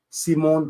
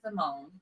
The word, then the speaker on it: Simone: We say Simone. Oh, y'all say Simone out here. Simone. Huh? Okay, and you say? I say Simone. Simone Biles. Bills. Simone Bills, okay?